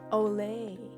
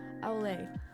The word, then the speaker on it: au lait: How do you pronounce that? Olay. I've been saying it wrong this entire time. Olay.